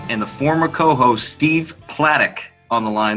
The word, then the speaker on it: Platek: I got Tex, John, and the former co-host Steve Platek on the line. That's right, I pronounced it correctly, Platek.